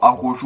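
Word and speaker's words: Araujo: Alors Arojo ou Aroro, moi je prononce directement Aroro.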